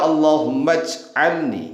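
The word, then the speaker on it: اللّٰهُمَّ اجْعَلْنِي: Karena hamzah tersebut disebut sebagai *hamzah wasl*. Huruf itu ada saat ditulis, tetapi ketika dibaca bersamaan dengan kata sebelumnya, huruf itu tidak diucapkan. Dibaca *Allahummaj'alni*.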